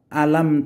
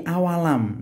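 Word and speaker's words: أَوَلَمْ: yang salah sahabat saya bacanya bukan alam takun tapi awalam nah ini kesalahan yang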